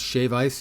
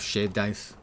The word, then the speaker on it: shave ice: I don't understand why it's shave ice instead of shaved ice, I gotta say. I understand that's the appropriate pronunciation.